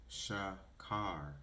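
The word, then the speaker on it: שחור: In the Torah, which is what the Bible is translated from, black is pronounced shakar, which means dark.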